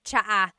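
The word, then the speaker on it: tsaa: And it's spelled ts aa aa. Cha. Cha. That's such a Tagalog spelling. I love it. There's the ts sound and then the double vowel uh pronunciation.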